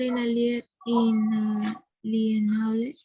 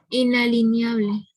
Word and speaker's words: inalienable: Profesor inalienable. Repíteme de nuevo. Inalineable. No. Inalienable está bien escrito.